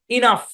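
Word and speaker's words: enough: নাকি আচ্ছা দেখেন তো এই শব্দের উচ্চারণ হচ্ছে ইনাফ আমরা অনেকে এটাকে এনাফ বলি কিন্তু না ভাই এটার উচ্চারণ ইনাফ ইনাফ এখানে জিএস এর উচ্চারণ এফ এর মত হবে ইনাফ অল্প কিছু শব্দে তার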